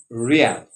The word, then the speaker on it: real: the currency in brazil is known as r-e-a-l-r-e-a-l real like the real madrid football club please don't mix it up with real riyal which is the currency of saudi arabia in asia okay so